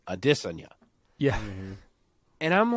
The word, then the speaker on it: Adesanya: broach the topic of how his name is actually Addison yeah and I'm like